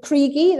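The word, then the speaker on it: Kriegie: k-r-i-e-g-um why or just just with the e because that's how you pronounce it in german and kriegi was just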